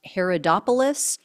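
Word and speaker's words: Haridopolos: Downing of Montana Mike I think his last name is pronounced Herod opoulos um he is another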